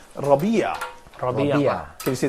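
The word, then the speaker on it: ربيع: so here's that so I'd like just to pronounce this for please follow me so I say Rabia probably yeah can you see that what does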